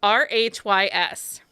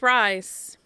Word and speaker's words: Rhys: can't pronounce them i'm not very good at pronouncing names especially anyway i read a whole book and the guy's name was r-h-y-s i read the whole book in my head